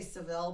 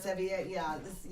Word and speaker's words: Sevilla: And I'm gonna say Seville, but that's not how you pronounce it. Sevilla. No. Sevilla, But anyway, but we're having